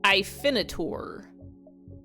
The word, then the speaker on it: Hyphenator: Pronounced Ifinator. Like a minotaur.